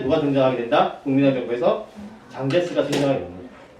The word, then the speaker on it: 장제스: 국민당 정부에서 장제스가 등장하게 됩니다. 장제스는 한국 발음으로 하면은 장개석이 됩니다.